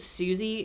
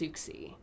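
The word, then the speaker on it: Siouxsie: asks ask suxy and is that how you pronounce it s-i-o-u-x-s-i-e i think i said susie in the previous episode and then doing more research i think it's pronounced souxy interesting i think so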